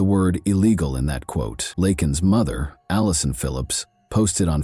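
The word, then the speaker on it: Laken: To the thunderous cheers of his supporters, Biden mispronounced the victim's name during the speech, saying instead, "Lak Lincoln Riley."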